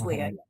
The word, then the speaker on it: Lea: Is the pronunciation of your name right, Lea? Yes, very good. Yeah, it's Lea.